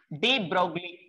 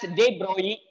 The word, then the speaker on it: de Broglie: This was proposed by de Broglie. If L is considered as silent, we can say it is as de Broglie.